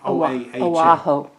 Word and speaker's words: Oahu: I'll spell that because my pronunciation may be off. Kancoha. Kaneohe Bay, that was on the Oahu Island. Oahu.